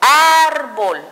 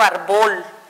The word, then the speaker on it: árbol: Sé que aquí tengo mi sílaba tónica porque la sueno, digo árbol, no digo árbol, sino árbol.